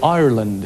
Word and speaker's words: Ireland: Or Ireland is the correct way to pronounce that.